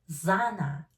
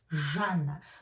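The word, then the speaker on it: Zhanna: English speakers read it zanna zana no it's janna because z and h sounds like in Russian interpretation. Uh it's not Z and H separately. It's one sound.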